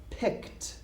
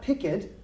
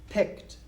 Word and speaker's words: picked: I picked pumpkins now notice how I say the past tense here picked okay not picket picked I was probably four